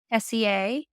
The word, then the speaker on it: Tessier: you so you I've heard of is it pronounced a teaser or teser Tessier is how I've heard it said Tessier 7 is what she was we were told that she has oh wow Tessier I see the whole time I was calling